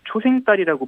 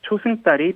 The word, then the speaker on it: 초승달: 자, 그런데 여기서 초승달을 초생달이라고 부르는 분들도 많습니다. 아, 맞아요. 초생달이라고 부르는 분들 많이 봤거든요. 네네. 사실 어원 그대로라면 초생달이 맞지만 발음이 달라진 한자어로 초승달이 표준어가 됐습니다. 혼용해서 쓰던 초생달은 북한어라고 하네요.